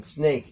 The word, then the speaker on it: snake: to do this is forget about the SN sound, because that is exactly the same in both, and focus on the end of the word. Of course, in snake, you should be just focusing on ache, and snack, you should just focus on ack.